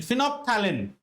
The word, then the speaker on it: phenolphthalein: This is how you pronounce it. Phenolphthalein. Phenolphthalein, but you write it as phenolphthalein.